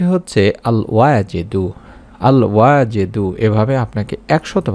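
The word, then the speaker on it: الواجد: অভাব অনটন দূর করে রিজিককে বরকত দান করবেন উচ্চারণটি হচ্ছে আল ওয়াজেদু আল ওয়াজেদু এভাবে আপনাকে 100 বার পড়তে হবে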